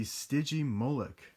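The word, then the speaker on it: Stygimoloch: right there and i didn't know how to pronounce this for the longest time but i finally do it's the stygi molek so that guy lived in the foothills kind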